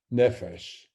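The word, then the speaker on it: נפש: Now, I'm going to begin with a troublesome word in biblical Hebrew, nephesh. That's the way you pronounce the word represented with Hebrew script.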